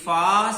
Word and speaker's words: ف: And also be careful, don't read with heavy sound like Fa. Don't do round your lips. Okay, this Fa sound is light.